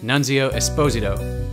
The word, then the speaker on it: Nunzio Esposito: Today we host the best-looking dude in the software industry, Nunzio Esposito, which I'm being coached as the proper Italian way of pronouncing.